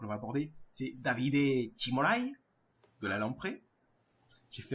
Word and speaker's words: Cimolai: On peut tout de suite enchaîner avec le deuxième sprinter que l'on va aborder, c'est Davide Cimolai, de la Lamprey. J'ai fait un mix, je l'ai prononcé à l'italienne avec un accent espagnol, c'était très bizarre, mais bon.